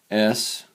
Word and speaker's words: SOHCAHTOA: They'll say S-O-H-C-A-H-T-O-A. Okay? Some people pronounce it SOHCAHTOA.